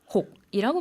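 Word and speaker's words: หก: 싫어하는 숫자는 6입니다. 태국은 어떻게 발음하죠? 혹이라고 발음하는데요. 혹이라는 것은 엎어지다, 쏟아지다 이런 뜻을 가지고 있습니다.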